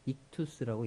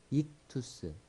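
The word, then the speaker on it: ΙΧΘΥΣ: 뭐 이렇게 해가지고 써 놨잖아요 이게 이거를 헬라어로 뭐라고 읽냐면 이투스라고 있습니다 이투스 이게이 발음이 나고요 그 발음 쓰우스 그래서 이투스가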